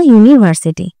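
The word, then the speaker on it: university: যদিও এখানে ভাওয়েল আছে বাট যেহেতু ইউর মত উচ্চারণ হচ্ছে তাই এর আগে এ বসবে। He reads in আ ইউনিভার্সিটি।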